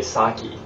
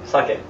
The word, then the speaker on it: sake: out of me um a lot of people say saki yeah for uh sake sake right that's the correct way to say uh saki in Japanese yeah and that's another